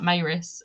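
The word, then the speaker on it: Maryse: i love that you actually get the pronunciation of maerus in this book it actually spells it out when luke's telling simon about her and he's like maurice and spells it out i'm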